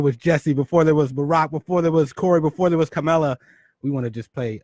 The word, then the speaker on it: Kamala: I think her name's pronounced Kamala, but it's okay.